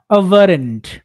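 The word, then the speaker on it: aberrant: এটা আনজুয়াল না অস্বাভাবিক আনইউজুয়াল বা এভারেন্ড এটার উচ্চারণ এভারেন্ড আপনি নরমাল উচ্চারণ এভারেন্ট করতে পারেন তহলে কি বলতেছে অর্থ ডিপার্টিং ফ্রম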